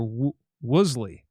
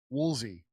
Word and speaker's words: Woolsey: kits and talking to the former CIA director Wley." Woolsey. Woolsey. Okay. I think it's spelled Yeah, here it's different.